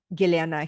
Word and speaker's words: Gellyahnah: Just start going by it, because Gellyahnah is the optimized version of my birth name, which is Gellyahnah.